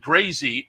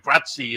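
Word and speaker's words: Grazie: Uh I said grazy and and Frank Matti had it right. Gratzi. Uh it was the Italian pronunciation and I just looked up what's Gratzi Prago and it's essentially the same thing.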